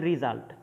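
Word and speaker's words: result: অ্যান্ড ইফ দ্য রিজাল্ট ক্যান be easily foreseen, দেখো উচ্চারণটা হবে রিজাল্ট, ইফ দ্য রেজাল্ট ক্যান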